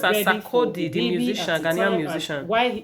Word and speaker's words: Sarkodie: So she made it clear to us that Sakadi was name is pronounced as Sakodi, the musician, Ghanaian musician.